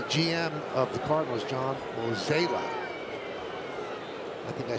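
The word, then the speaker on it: Mozeliak: Now I'm 0 for 2 on pronunciations. What's the other one? The GM of the Cardinals, John Mozela. I think I said Mosley.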